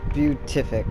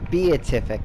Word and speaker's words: beatific: she did it again beautific beatific actually I'm sorry um I gotta pronounce that correctly yeah yep nope I'm